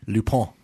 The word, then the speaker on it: Lupin: both of you guys it's in french so it's actually new lupo oh my wife speaks french i was chastised for calling it lupine the way it's spelled will will uh l-u-p-i-n okay would you like